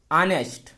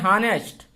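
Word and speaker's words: honest: जैसे आपका है ऑनेस्ट। ऑनेस्ट एच है, बहुत लोग पढ़ते हैं हॉनेस्ट, लेकिन उच्चारण क्या है? ऑनेस्ट।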